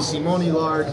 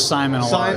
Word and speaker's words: Simon Allard: I think it'd be Simone Lard. No, it's Simon Allard.